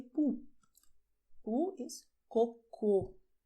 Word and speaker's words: cocô: "Poo" is "COCÔ". Pay attention: "CÔCO", "COCÔ". Two different words: same letters, but well the sound is different.